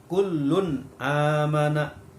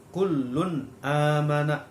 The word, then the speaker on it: kullun amana: Di situ ada tanwin atau dumatain bertemu dengan hamzah, ya. Jadi cara membacanya jelas. Hukum bacaannya disebut bacaan idhar. Jadi cara membacanya kullun amana. Kullun amana.